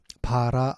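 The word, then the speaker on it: ברא: 단어의 의미 로 반박에 됩니다 이 단어는 히브리어로 바라 알아 라고 읽는 바로 그 단어를 사용하고 있는데요 오직 이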